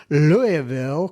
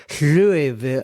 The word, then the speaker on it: Louisville: He says when you say Louisville, you go Louisville like I can't even get it right. It's like you he says you kind of slur the word Louisville.